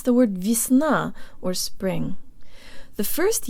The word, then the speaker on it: весна: Russian mouth position and to de-emphasize the first syllable. It's not Весна, but Jo tang lips. Весна. Весна.